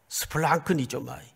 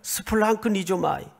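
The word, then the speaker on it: σπλαγχνίζομαι: 스플랑크니조마이. 이런 훌륭한 단어 하나 정도는 외워 가지고 있어도 그렇게 누가 뭐라 그럴 사람 없을 것 같아요. 한번 따라서 해볼까요? 스플랑크니조마이.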